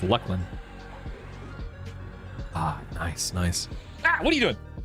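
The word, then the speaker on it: Luclin: I used to call it Looselin, but apparently it's pronounced Lucklin.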